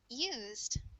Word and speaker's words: used: And the e in this ed ending is silent. So this is pronounced like used.